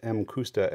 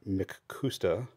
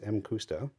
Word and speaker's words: Mcusta: that this is pronounced M kusta and not makusta because it is a Japanese company not a Scottish company so it wouldn't be Mick anything um it's m custo in this case we